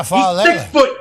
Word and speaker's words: Faalele: I don't know how you pronounce his last name. Faalele, I think it is. Oh, yeah, Faalele.